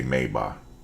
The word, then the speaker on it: Maybach: um Adidas is different than we do we mispronounce it but I just say Adidas just like they say instead of saying mayback they say mayba instead of you know how we say Maybach